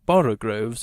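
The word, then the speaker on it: borogoves: Again, the first O in borogroves is pronounced like the O in borrow. I have heard people try to give it the sound of the O in worry.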